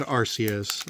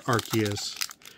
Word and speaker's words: Arceus: give us charizard pray to the pokemon god arceus or arceus however you'd rather pronounce it we have our code and the